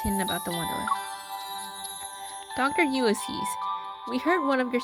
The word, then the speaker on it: Ulysses: It's Ulysses.